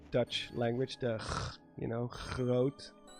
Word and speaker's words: groot: language, the you know, groot. The sound is not present in every part of the Netherlands. There are parts that have a more, we call it the soft G. It's more like groot.